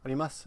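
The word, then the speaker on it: あります: These words are spelled su, and su arimasu is the spelling, and desu, but we rarely pronounce the u at the end. It's arimasu and des.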